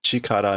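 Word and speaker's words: 力: is nooku meaning ability they're calling it chikar meaning power or strength which is normally how you just pronounce that one kanji there that's right please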